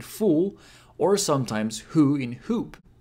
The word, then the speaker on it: ほ: It's pronounced like ho in ho or ho ho ho ho.